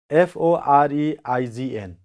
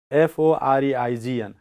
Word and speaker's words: foreign: S-C-E-N-E, F-O-R-E-I-G-N. How do you pronounce?